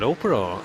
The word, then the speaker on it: Oprah: a great name and I think it's more Oprah than opra I I know I